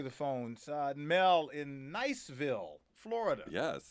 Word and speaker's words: Niceville: phones uh Mel in Niceville Florida yes is that the right way to pronounce it Mel lovely place yes yes it's Niceville Florida and it's an actual